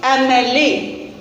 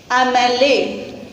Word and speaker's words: MLA: So Then how we will pronounce it? MLA. MLA. M. That means am sound. Right. So it's starting with vowel sound.